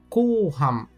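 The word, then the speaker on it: 後半: Esse kanji possui uma quarta leitura, ko. Ko, com o prolongamento do som da sílaba ko. E a vemos na palavra kouhan.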